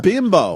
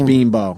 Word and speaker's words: Bimbo: oh yeah bean Boheme ball but it's no bin Bo but but they say it like hey Abby sees a bean ball everyone say this bean Bo I'm sorry I've never heard of this company